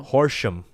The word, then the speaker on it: Horsham: PA okay course them how do you say it a horse junk horse jump portion Oh Horsham yeah that's really saying like horse collar yeah horse junk right